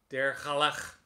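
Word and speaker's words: Dair Ghaelach: Dare, D-A-I-R, and then it's Ghaelach. Dergalach. That's how we would pronounce it. It might not be the Gaelic way.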